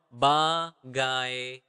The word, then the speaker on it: bagaimana: Bagaimana. Bagaimana. Okay, the normal speed would be bagaimana, bagaimana. So, it is not bagai when you saying it quickly. It's bagai. Bagaimana.